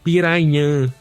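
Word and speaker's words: Pirahã: indígena, é porque o a pronúncia do nome é um pouco complexa pro nosso português, mas é a gente pronunciaria como piraã, né?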